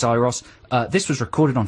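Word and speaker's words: Euros: on the breakfast show on whether to pronounce uros child's name uros or iros iros i think is we think it's iros uh this was recorded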